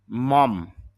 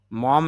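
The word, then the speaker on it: mum: Mobile phone model model বা নমুনা modern আধুনিক মম মম এটা মার্কিন ইংরেজি মানে আমেরিকান ইংলিশে মম বলা হয়।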